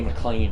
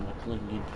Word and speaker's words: McLain: I know that Denny McLain is McLain, not McLean.